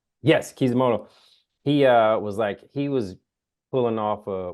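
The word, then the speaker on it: Kishimoto: Kizumoto. Yes, Kizimoto.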